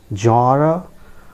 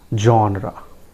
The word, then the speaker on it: genre: It is genre or genre.